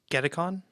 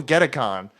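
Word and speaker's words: Gedacon: I type letters uh someone pronounce g e d a c o n just get Aon yeah that sounds cool get Aon that is where you're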